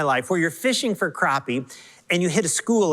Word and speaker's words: crappie: is when we're fishing in northern minnesota for crappies at our family cabin i love to fish